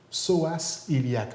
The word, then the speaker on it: psoas iliaque: Et maintenant, psoas iliaque. En préparation d'entrevue, je te regardais, est-ce que je l'ai bien prononcé?